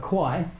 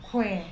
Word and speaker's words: Kwai: there you go crab the americans say and the english and probably australians too call it the river kwai you're all quiet but the real name is river queen the bridge over the